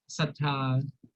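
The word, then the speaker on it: ศรัทธา: so the sh became sa, and Yeah. I think the r is not pronounced. In Thai, Right. we use the word sattha for most of the time for religious reason.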